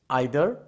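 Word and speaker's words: either: এবার আসো distributive pronoun, each, আইদার আর নাইদার, বা এটাকে ইদার বা নিদারও উচ্চারণ করতে পারো, ইচ, ইদার বা নিদার।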